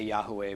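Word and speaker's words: Yahweh: and at EF T we say Yahoo Way but we don't claim that that's the one and only pronunciation when he comes back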